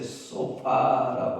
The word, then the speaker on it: 소파: 그가 시골론 땅이라고 하는 곳에 소파라고 하는 여러분들이 앉는 소파 똑같은 발음이에요.